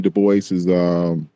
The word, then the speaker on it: Du Bois: it's pronounced Dubois. That's all.